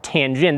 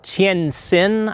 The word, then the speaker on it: Tientsin: You'll also hear it called Tientsin, I believe is the pronunciation. It's the same thing, Tientsin.